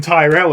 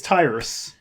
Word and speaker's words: Tyrus: I realized we've been calling him Tyrell as well Terrell it's Tyrus we said it last episode it's probably me mostly